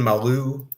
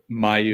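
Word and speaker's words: Mailloux: Um, Logan Maloo. No, how do you pronounce it? Mayu. Mayu. Yeah, like Caillou.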